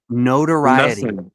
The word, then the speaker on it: notoriety: Notoriety. You're nothing. Equivity is not a word. Notoriety is how you say the word.